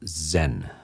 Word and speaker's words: Zen: And they don't pronounce cha or sa. They use z, or z, and it becomes zen.